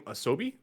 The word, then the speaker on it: Asobi: Team Asobi, I believe, is how you say that correctly.